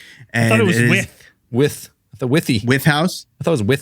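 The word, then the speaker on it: Wythe: that the with house the with house w y t h e yes with or why the why the why the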